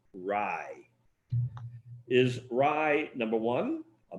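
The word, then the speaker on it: raj: the clean sweep here your last word is spelled r a j and it's pronounced rye is rye number one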